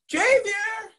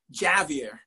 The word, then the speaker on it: Javier: Puerto Rican poet laureate, Javier. And to hear the first syllable stressed so dactylically transported me to a Longfellow masterpiece. The first time my chiropractor called me Javier, I went through an ethnic crisis.